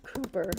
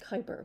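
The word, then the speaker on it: Kuiper: say because in Amazon project Cooper which is actually pronounced Kyper but I think that's stupid and he should have said it just Cooper.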